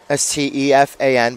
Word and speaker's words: Stefan: Again, it's spelled like Stefan, S-T-E-F-A-N, but pronounced Stefan.